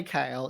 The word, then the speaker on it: Cael: how do you say kale yvette was asking and i just say you know just like the veggies so much easier to